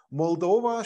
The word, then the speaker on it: Moldova: Elternzeit noch gebräuchlich war Moldova schließlich mit der Betonung auf der zweiten Silbe das wird im Deutschen oft falsch gemacht mullover ist der rumänische